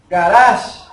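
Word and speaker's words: גרש: Expulsar es la palabra garash. Garash. Garash, como garaje, ¿no? Como pronuncianse En en inglés. inglés, ¿no? Yes, correct. Sí, pero en este caso el acento es diferente, ¿no?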